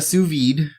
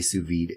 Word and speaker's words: sous vide: So, oh yeah, so I got a sous vide. If you don't know what that is, it's spelled S-O-U-S, like sous chef.